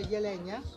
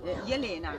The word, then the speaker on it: Jelena: So Slavonia, and the original name of the church is come si pronuncia? Jelena. Jelena. Jelena, which has become Elena in Italian.